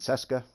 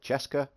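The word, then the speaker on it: Česká: you so ten percent cesca uh cesco sorry ten percent could hit chance and 10 hazard protection i've been uh kindly informed in a few of the comments that this is pronounced uh chesca so we'll go with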